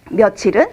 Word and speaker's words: 며칠: 보 5월은 9분해서 쓰지만 며칠을 소리나는 대로 씁니다 그래서 으 몇 b 라고 쓸 때 며칠이 라고 발음 되는 거고 또 며칠도 몇이 라고